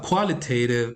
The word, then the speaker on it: qualitative: the second one uh qualitative also is stressed on the first syllable category is also stressed